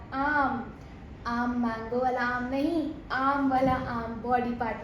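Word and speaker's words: Knie: इसे हम कहते हैं दास नी, लेकिन इसकी स्पेलिंग अलग होती है।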